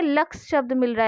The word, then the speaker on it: Lux: तो उसने कहा LUX और लक्स को उसने लुक्स पढ़ा। तो लुक्स मतलब उसने उसका उच्चारण गलत किया, उसको पढ़ने में कठिनाई हुई, उसने सही उच्चारण नहीं किया, उसको पढ़ना क्या था लक्स और पढ़ा क्या लुक्स।